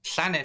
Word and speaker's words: Llanelli: It's got two L's. Llanelli. Thank you, Di.